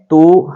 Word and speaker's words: tu: तो इसको कई जगह पर कई लोग लिखते हैं ईओ, कोई लिखता है ईयो, लेकिन बोलना है वो ना तो ओ बोला जा रहा है पूरा, ना ही यो बोला जा रहा है।